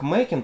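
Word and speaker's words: Machen: сегодня хотела поговорить артур минчин на самом деле его фамилия читается как макин поскольку он валлиец но в русском приводят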